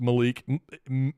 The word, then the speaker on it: Meleek: name about 15 times it's Mel not M even though it's pronounced Malik it's more like meik Malik Thomas he's been